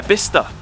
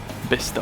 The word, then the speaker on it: Bicester: watched and uh yeah bista nice place weird pronunciation not Bicester B hm updates what have